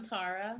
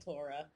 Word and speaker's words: Taura: And I'm Taura. Taura. Okay, see, I really didn't want to mispronounce it. I get phobias by it now that I'm. It's okay. I answer to like Tara, Tara, and Tora.